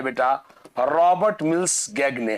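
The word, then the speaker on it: Gagné: होगा आपने, Robert mills गेने, अमेरिकन दार्शनिक मनोवैज्ञानिक। इनका पूरा नाम है बेटा रॉबर्ट मिल्स गैगने। हाँ, या गेने या गैगने कहते हैं, जैसा वहां लिखा हुआ है, जी साइलेंट पढ़ा जाता है।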